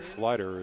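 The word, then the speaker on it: Pfleiderer: get maybe a yard or two before Brogan Flighter is pulled down.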